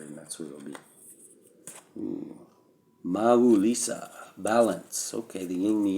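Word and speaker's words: Mawu-Lisa: seek Harmony and cooperation maal Lisa pronounce Mau Lisa is a Supreme Being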